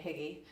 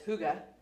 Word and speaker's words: hygge: and if places and you are saying higgy, but my husband said higgy today, and I was like, I know that's not how you say it because I was shocked. But it's hygge.